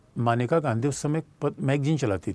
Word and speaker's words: मेनका: और याद रखना, मानेका गांधी जिसको हम मेनका, सामान्यतः बच्चे समझते हैं मेनका। बच्चों देखो, मानेका गांधी पंजाब से थी और हिंदी भाषी क्षेत्र का उच्चारण पंजाबी भाषा में फ़र्क होता है।